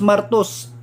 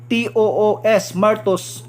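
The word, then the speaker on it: μάρτυς: So pagbasa siya is pronunciation niya is martus. M-E-R-T-O-O-S, martus.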